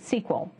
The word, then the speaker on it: SQL: Is it SQL or is it SQL? My friends in industry tell me that SQL is the in pronunciation, so that's the one I'll be using.